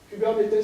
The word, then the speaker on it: Kubernetes: Kubernetes, ça se prononce comme ça.